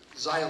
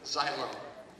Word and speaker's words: xylem: Xylem. Could you please use that in a sentence? Xylem is part of a plant as well as a weird word. So you pronounce it as xylem? Xylem.